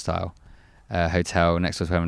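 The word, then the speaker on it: Styles: part of the Caravan was at the Ibis steel actually pronounced style uh hotel next to us dinner and they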